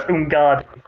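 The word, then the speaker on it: Umgadi: So it's Ungadi.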